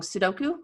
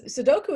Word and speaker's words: Sudoku: do um I like I'm gonna say it wrong pseudo new puzzles Sudoku is perfect okay yeah I like